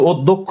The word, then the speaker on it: অধ্যক্ষ: এবার যুক্ত খ বসায় দাও, আর কোনো কার নাই, মূলত অধ্যক্ষ উচ্চারণ করলে মুখটা গোল হয়, এই ওকার বসায় দাও, এই হচ্ছে ওকার বসায় দাও, কাহিনী শেষ।